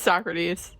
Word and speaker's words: Socrates: Is that not how you Is that not how you pronounce that? It's It's It's Socrates.